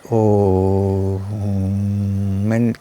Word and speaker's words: Om: the sound of home if you chant oh men keep stress on the last part which is more then the vibration itself